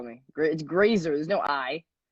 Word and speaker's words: Grazer: to call me grits grazer there's no I there's no i but I used to call you glazier I've never had my